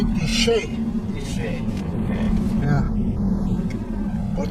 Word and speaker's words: Canyon de Chelly: Now, Canyon de Chelly. Why do they pronounce it Shay?